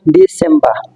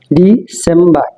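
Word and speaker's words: December: এবং শেষ যেটা আছে আমরা ডিসমবা ডিসেমবা এটা পুরাপুরি ভুল সেটা হবে ডিসেমবা আমরা ডিসেম্বর বলতাম এটা সম্পূর্ণ ভুল তারপরও আমরা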